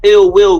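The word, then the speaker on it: Illz Willz: Wills Watusi, and that's Ill Will with 2 Z's, and it's spelled ILLZWILLZ.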